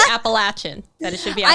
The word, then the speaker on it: Appalachian: So we're going to start with, can you confirm or deny that it should be pronounced Appalachian versus Appalachian? I can strongly confirm that. That it should be Appalachian.